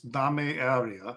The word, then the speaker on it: Dame Area: That's how it's spelled, but it's Spanish, so it's Dame Area.